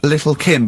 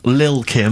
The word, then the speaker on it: Lil Kim: Now, Steve, I see there, it's a track by Little Kim, but how are you pronouncing it? I'm pronouncing that correctly, Lil Kim. Oh, no T's involved.